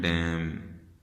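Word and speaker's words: damn: इसी तरीके से एम और एन का कॉम्बिनेशन एंड पे आपने देखना है, नज़र आएगा तो वो एन साइलेंट हो जाएगा।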